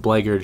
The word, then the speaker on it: blackguard: Although it is spelled blackguard, it's pronounced blackguard, just a heads up.